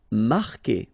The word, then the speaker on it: marquer: Marquer, okay, Q-U together, it's only the sound K, K. Marquer, don't pronounce the U.